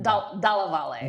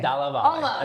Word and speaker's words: Dalla Valle: That's that's my first entry into Dal Val it's called. That's how you pronounce it. Dalaval. Dalaval.